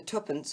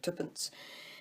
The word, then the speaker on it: twopence: twopence at the start, which is obviously the pronunciation that we would use for a 2 pence, and that a professional numismatist would use, seeing so he would abbreviate the pronunciation slightly, because he cannot be simply bothered to say 2 pence instead of twopence.